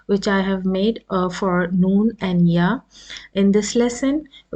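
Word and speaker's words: نون: So the phonetic rules for noon is, as in English you say N, the same sound is with noon.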